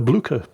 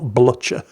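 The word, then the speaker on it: Blücher: for Shrimple here in the Blucer or however the hell it's pronounced. I don't know. I just know it's not Blutcher.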